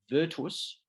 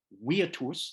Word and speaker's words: virtus: classical virtues in Latin the word for virtue is well we would pronounce it virtus the Romans would have pronounced it weirdos that's how they would have actually pronounced that word that you can see on the screen Latin weirdos meaning in